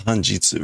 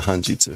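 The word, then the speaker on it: 半日: It's Hanjitsu, right? Yeah, Hanjitsu, half day. Unfortunately, right, that's a kanji that can be pronounced like 10 different ways. So I was pretty sure it was Jitsu.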